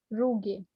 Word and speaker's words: rugae: Stomach में एक special type की फोल्डिंग मिलती है जिसे हम देखो स्पेलिंग क्या दी है रोग की, RUGUE, RUGAE शायद, रूगे कहते हैं, रूगे।